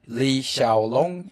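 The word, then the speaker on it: 李小龍: Lee Shaolong is how you say his name in Chinese.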